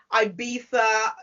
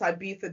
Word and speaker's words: Ibiza: festival out, Ibiza. You pronounce Ibiza different to us. How do you pronounce it? Oh, yeah, that's correct. Ibiza.